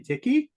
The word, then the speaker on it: Tichy: Today, I am happy to have with me Adrienne Tichy, rhymes with sticky, who has a crazy story, maybe even crazier than mine.